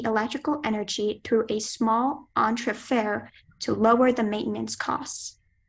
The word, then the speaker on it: entrefer: The engineer decided to transfer the electrical energy through a small entrefer to lower the maintenance costs. Are there any alternate pronunciations?